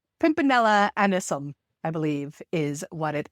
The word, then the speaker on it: Pimpinella anisum: I'm saying that name wrong. Pimpinella anisum, I believe, is what it is.